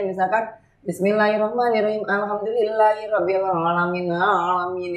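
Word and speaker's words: العالمين: Alhamdulillahirabbil alamin. Itu harus ada ain. Ya kan pertama aku bacanya datar tuh. Pertama Ibu bacanya masih alamin. Enggak Bu, alamin gitu kan.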